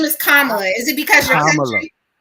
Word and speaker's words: Kamala: do you think it is so hard for Kamala to connect to the Black man? Well, let me see. So I'll read it. Wait a minute. I call her Kamala.